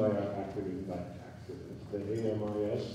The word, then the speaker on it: AMIS: The AMIS, we like to pronounce as AMI. If you know one word in French, that's a good word to know, because it means friends, and our mission is to